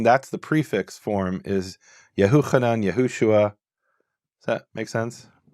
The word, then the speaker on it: Yahuchanan: Okay, so it's not Yehochanan, it's Yahuchanan. Okay, I mean, there's no evidence for that from Hebrew sources, right? But at least you're saying that's the prefix form is Yahuchanan, Yahushua.